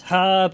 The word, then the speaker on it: herb: It's herb as well. I don't know why the Americans pronounce it with silent H. Herb. No, it's herb. It's herb.